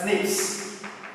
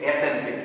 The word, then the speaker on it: SNP: do you pronounce it it should be known as snips okay don't say snp you have to pronounce